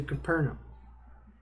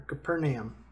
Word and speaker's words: Capernaum: started across the sea to Capernaum, or Capernaum, however you want to pronounce it.